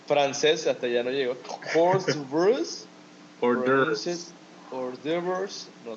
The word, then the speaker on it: hors d'oeuvres: But yeah, pronunciation is hors d'oeuvres.